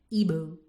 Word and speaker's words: Igbo: said my nigerian name it's an igbo name isn't it she pronounced it ebu yes what does it